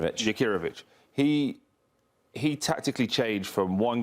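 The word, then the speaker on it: Jakirović: Jakirovic.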